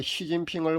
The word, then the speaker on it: 시진핑: 왜 그러냐면요, 우리가 중국 주석 그 시진핑을 부를 때 말입니다. 그 나라에서 발음하는 대로 우리가 시진핑이라고 그렇게 부릅니다. 한자 그대로 우리식으로 만약에 발음을 한다면요, 습금평이라고 불러야 합니다. 근데 우리가 습금평이라고 부르지 않고요, 그 시진핑이라고 그렇게 불러주지 않습니까?